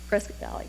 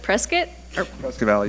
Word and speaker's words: Prescott Valley: than just the fleet frisky valley man brisket valley sorry am i saying it right is it prescott valley yeah we don't care